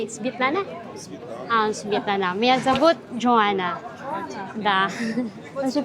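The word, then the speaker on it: Светлана: Svetlana.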